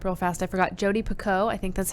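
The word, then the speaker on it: Picoult: before we rap real fast i forgot jodie pico i think that's how you pronounce her name it's p-i-c-o-u-l-t she has really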